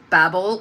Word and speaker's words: Babel: Babel or Babel, depending on how you pronounce it, by R.F.